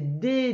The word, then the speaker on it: dents: Et puis, il y a un S muet. Alors, pourquoi? C'est parce que c'est des dents et donc c'est au pluriel. De. C'est comme ça se prononce.